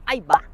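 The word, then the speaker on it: Eibach: barra antitorção superior e molas da Ibá seguindo a pronúncia alemã da marca temos amortecedores busten também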